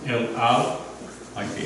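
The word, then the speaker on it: על: Al. Like the airline.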